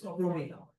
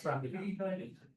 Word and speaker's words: Pramila: Indian pronunciation. It's Indian. That is Pramila. Not Pramila.